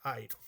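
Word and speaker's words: αἴρω: letra del diptongo pero se pronuncia en la primera letra airo Okay en fin ahora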